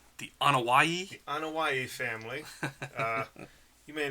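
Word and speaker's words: Anoa'i: How do you pronounce their last name? The Anawai.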